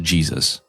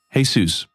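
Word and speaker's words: Jesús: wrong this entire time I swear I thought it was pronounced Jesus so hey seus we have a few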